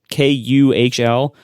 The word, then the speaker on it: Kühl: I mentioned how a lot of people had recommended pants by a brand that I think is pronounced Kühl. It's Kuhl, and the U has the 2 dots over.